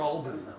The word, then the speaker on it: Albany: You know, and so, is it Albany or Albany? Albany. Albany. Okay, got to say it right.